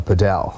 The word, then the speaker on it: padel: sometimes France you'd hear people use the you know the fancy term padel yeah you know but not not in South Africa either we we generally say paddle so if you're on a 15 say padle okay don't try to be smart but I've seen some